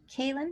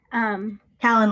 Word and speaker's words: Callan: Yes, I kind of resonate with Kaylin. Is that how you pronounce? Callan like calendar.